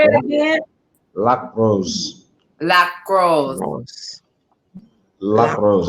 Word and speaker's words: Lac Rose: It's Lac Rose. I was saying it all wrong. Say it again one more time. Oh, you're saying it all wrong. Say it again. Lac Rose. Lac Rose.